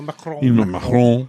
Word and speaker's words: Macron: Emmanuel Macron.